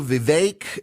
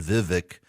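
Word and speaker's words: Vivek: like I've been saying Vivic uh it's not Vivic uh it's rhymed with cake so Viv vi vi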